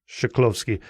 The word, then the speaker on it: Chklovskii: name right shovi yeah so think of it as sh rather than CH shikovski guski yoska what is